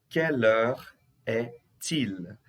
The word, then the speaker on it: quelle heure est-il: Quelle heure est-il? Aqui eu faço a ligação, tá, gente? Aqui eu estou fazendo a ligação. Quelle heure est-il? O T aqui fazendo ligação com il.